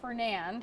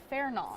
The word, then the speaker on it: Fernand: That's that's how you say Fairon. It's a French pronunciation word and it was back used back in 2019 since every six years they rotate the hurricane names.